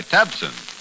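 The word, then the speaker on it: Tabcin: So now try Tabsin. That's spelled T-A-B-C-I-N.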